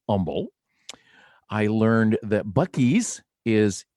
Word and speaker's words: Humble: that uh humble is pronounced without the h it's not humble it's humble i learned that bucky's